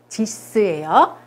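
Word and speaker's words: dix: 10 디스라고 합니다. 이것도 딕스라고 하지 않아요? 디스예요. 이것도 역시 발음이 됩니다.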